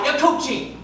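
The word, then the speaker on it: acouchi: Akuchi. Right. The rodent resembling the other rodent. What was it again? A-C-O-U-C-H-I, Akuchi.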